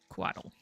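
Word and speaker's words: couatl: side of uh Humanity that's spelled w t l e or w a d d l e or c o u a t l quaddle oh quaddle okay I heard it wrong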